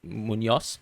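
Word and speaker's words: Muñoz: say his name m I would say mun but then uh a Colombian might actually say Munos because the the way they pronounce the the Z or the Z is is slightly different I would say mun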